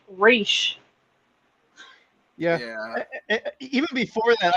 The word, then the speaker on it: Ra's: they even say well most people refer to him as Ross but it's actually pronounced race yeah yeah even before